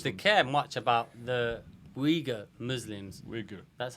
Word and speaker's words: Uyghur: no one seems to care much about the uyghur muslims that's how you pronounce it but i'm saying but it's it's